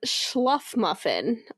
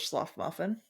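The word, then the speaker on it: Shluffmuffin: I would go with Schluffmuffin. That sounds right.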